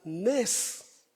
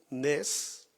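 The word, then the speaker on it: נס: Fíjese que la palabra milagro en hebreo se pronuncia nes, así como lo oye, nes.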